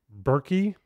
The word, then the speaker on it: Berkey: Reverse Osmosis System maybe I've never heard of berky and it's not Berkeley I am pronouncing it right B it's spelled on Google b r ke y okay uh it's probably